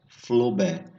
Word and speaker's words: Flaubert: Gustave Flaubert, está escrito Flaubert, mas a pronúncia é Flaubert.